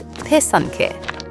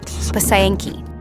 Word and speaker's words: pysanky: It's pysanky, not pysayinky.